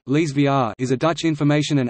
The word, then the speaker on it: Elsevier: Elsevier (Dutch pronunciation: Lees VR) is a Dutch information and analytics company and one of the world's major providers of scientific, technical, and medical information.